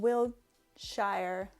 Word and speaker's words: Wiltshire: I am in England in Wiltshire.